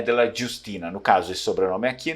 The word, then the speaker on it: Jiustina: mesmo essa dele é Justina porque é escrito com a longa o j o J no Veneto não tem som de J não é francês e nem português né Justina é som